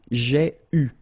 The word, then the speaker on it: eu: And this is pronounced, so it's an exception because normally you should pronounce it differently, but, so it's an exception, it is pronounced U, okay?